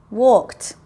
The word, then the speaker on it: walked: the first paragraph Alice walked walked that's the T sound home from school yesterday